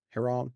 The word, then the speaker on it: Heron: Heron. Heron. Heron. Sometimes the H in English is just gone. Or I should say American.